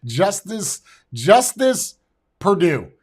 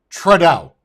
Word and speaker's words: Trudeau: Justice Purdue. It's a guy that makes chicken quickly. Justin Trudeau. That's his name. Say it with me. Justin Trudeau. Not just in time, not Justice Purdue, Justin Trudeau.